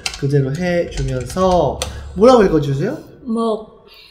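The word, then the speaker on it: មក: 모에 미리 들어있는 이 쓰라 오 발음 그대로 해주면서 뭐라고 읽어주세요? 목 모, 그렇죠. 마오 네?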